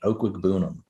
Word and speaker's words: Okwuegbunam: Okwuegbunam.